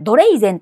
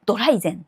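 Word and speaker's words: Dreizen: に C はいこれドレイゼンと書いてドライゼと読むやつですねドライゼテストこれ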